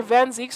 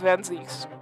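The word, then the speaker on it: Van Zieks: zeke's it was right i keep on calling him by either van zeeks or van zykes because i never knew how to pronounce his name properly but it's van zeke's even though van zak's kinda sounds a lot more cooler i can only mean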